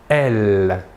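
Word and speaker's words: elles: Et le pronom personnel sujet féminin de la troisième personne du pluriel est « elle ». Même chose que pour le masculin, la S finale ne se prononce pas.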